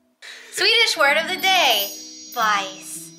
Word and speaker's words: bajs: Bice. How do you spell it? B-A-J-S. B-A-J-S. Bice.